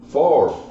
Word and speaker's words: Favre: popper that's the way it's spelled but it's pronounced far for whatever here give it the B is